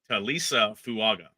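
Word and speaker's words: Taliese Fuaga: that that um okay I've got the pronunciation guide toisa fuaga there we go well that's that's much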